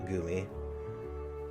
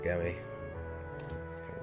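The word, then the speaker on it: Gummi: Oh, and we got another navigational Gumi. Or Gummy.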